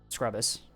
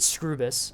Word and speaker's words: Scrubus: Should pronounce it Scrubus. Apparently, Black Bat and Duke pronounce his name Scrubus, and it pisses him off. So, Scrubus it now is.